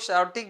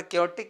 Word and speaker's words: chaotic: क्योटिक लिखा हुआ है, कुछ लोग शाउटिक भी पढ़ सकते हैं, कोई दिक्कत की बात नहीं है, पर क्योटिक इसका सही प्रोनाउंसिएशन है, क्योंकि CH से सा भी होता है इसलिए कहा गया।